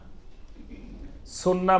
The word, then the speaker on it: সুন্নাহ: সুন্নত বললে সবাই চিনে, সুন্নাহ বললে আবার অনেকে নাও চিনতে পারে সাধারণ মানুষ। তো এই জন্য বেশি পরিচিত আমাদের দেশে সুন্নত নামে, কিন্তু এটা শুদ্ধ আরবি উচ্চারণ হলো সুন্নাহ। সুন্নাহ মানে হলো তরিকা, সুন্নাহ